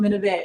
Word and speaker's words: Minnovate: People are like, how do you say that? It's Minnovate. I get called Minnovate all the time by my light-skinned fellows.